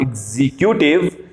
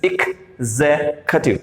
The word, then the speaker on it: executive: That is not executive, this is not executive, this is executive. इसके तीन हिस्से होंगे. एक नहीं, ई प्लस का, यानी कि एक वाला इक, executive, executive.